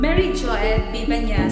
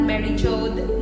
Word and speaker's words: Mary Jo Bibenyas: to pronounce my name mary jo bibenyas is the proper pronunciation of my name not mary jode not campus or